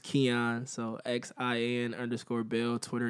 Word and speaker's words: Xian: that was spilled a little funky but it's pronounced kyon so Xin underscore bill Twitter Instagram all that